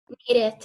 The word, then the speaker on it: needed: Entonces, en ese caso, como termina en T, ahí sí le hacemos sonar esa E, ¿no? O si termina en D de dedo, por ejemplo, how do you say necesitar in English? Needed. Need. Exacto, need y correcto. El pasado de una vez ya sería needed, needed. Ahí sí suena la E.